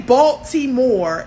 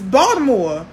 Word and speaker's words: Baltimore: say my city Baltimore we don't say Baltimore it's Baltimore with a d don't come down here